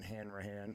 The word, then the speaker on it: Hanrahan: It's under your name, Brendan Hanrahan.